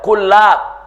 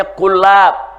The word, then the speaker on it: Kullab: Bukan Kilab ya klab bacanya klab pakai tasdid saudara.